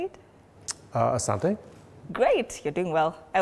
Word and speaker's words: asante: Asante.